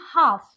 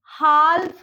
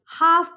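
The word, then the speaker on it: half: देखिए L is silent after the vowel AONU, ठीक है। जैसे कि हाफ, यहाँ पे देखिए ये वॉवेल है, हाल्फ नहीं बोलेंगे हम यहाँ इसको हाफ बोलेंगे।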